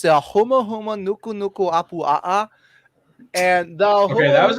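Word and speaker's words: humuhumunukunukuāpuaʻa: It's the huma huma nuku nuku apu a'a, and the Okay, that was huma- impressive. If that's actually the correct pronunciation.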